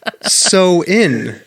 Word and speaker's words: Samhain: yeah no it is it says samhain here on this paper i'm reading from but it says it's pronounced so in what that's what it